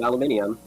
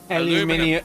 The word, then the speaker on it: aluminium: syllable from aluminium? Aluminium. Aluminium. Yeah, it's like that sounds legit scientific, but saying aluminum just sounds dumb.